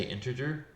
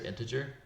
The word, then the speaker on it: integer: Don't mispronounce integer, which we do all the time because we're in Texas, but I often say integer, and there's no R there, it's integer.